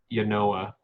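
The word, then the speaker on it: Yonah: It's Yanoah is how it's pronounced. So it's the sounds like word.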